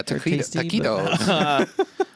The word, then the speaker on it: taquitos: Traquitos. Yeah. Hey, guys, he says. Hey, welcome. How's it going? Welcome to you. Traquitos, like, you know, like the little rolls. Yeah, taquitos.